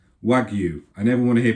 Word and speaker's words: wagyu: So, don't forget the pronunciation is Wagyu. Wagyu. I never want to hear people say Wagyu because it's simply incorrect and Japanese people are going to be cringing if you do that.